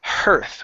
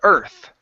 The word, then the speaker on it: earth: You're saying hearth when there's no H. Okay. So this is the earth.